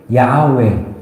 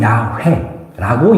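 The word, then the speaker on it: Yahweh: 여기서 여호와라는 말은이 히브리 발음으로 야외 또는 야회라고 이야기합니다.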